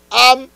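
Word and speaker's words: עם: Am, en hébreu, signifie people, avec Aïn, mais vous prononcez l'âme.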